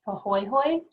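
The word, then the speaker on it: pāhoehoe: need to know so these are both hawaiian terms so the first one is pronounced pahoyhoy and that is when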